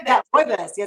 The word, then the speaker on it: rooibos: rooibos.